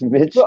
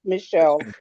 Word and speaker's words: Michel: I thought it was Mitchell. No, actually in French it the man's name would be pronounced Michelle.